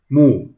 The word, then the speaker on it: move: These words look like they should rhyme due to their similar endings, but love is pronounced with a short U sound, love, while move has a long U sound, move.